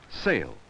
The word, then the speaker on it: sail: s a l e sale and s a i l sale both words have the long a sound say them out loud and listen to the long a sound in both words saale and saale there's